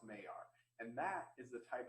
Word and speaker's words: Maillard: And it looks like Maillard is how it's spelled, but I believe it's pronounced Maillard.